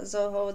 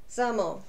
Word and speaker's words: Zaho: Not Zoho, that's not how you pronounce it. Zamo.